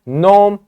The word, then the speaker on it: gnome: one by one here gnome the g is silent in thumb B is